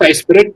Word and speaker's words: iSPIRT: It's pronounced iSpirit, but spelled iSPIRT. So don't add an extra I after the RIT.